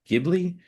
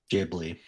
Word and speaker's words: Ghibli: Gibli. Did we Did we figure the Giblly Jibli? Ghibli. Ghibli.